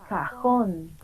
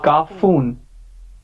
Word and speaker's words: cajón: The next one, cajón. Cajon. This is a cartoon box. Yes. Yes. What is it? Cajon. No. Cajón. It's J. It's J.